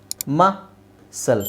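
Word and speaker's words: muscle: ವೈ ಇಲ್ಲ ಇದೊಂದು okay ಮಸಲ್ ಇದರಲ್ಲಿ ಮಾತ್ರ ಸಿ ಇಲ್ಲಿ ಸೈಲೆಂಟ್ ಆಗುತ್ತೆ ಬಟ್ ಸಿ ಆದ್ಮೇಲೆ ಇ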